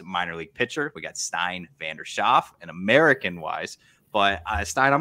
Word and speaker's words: Stijn van der Schaaf: The Dutch way to pronounce it is Stijn Vander Schaaf. So of course, with the which is a very common sound used in the Dutch language. Of course, the American language doesn't have it, so there's a struggle.